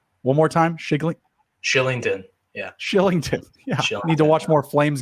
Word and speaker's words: Kylington: the pronunciation of uh is it kylington killington kylington uh it's shillington actually arlington wow that's a